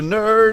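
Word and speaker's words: Knerd: practice skills from Danger Nerd. It's Danger K-N-E-R-D. The K is silent like knife or knife or knob or knight.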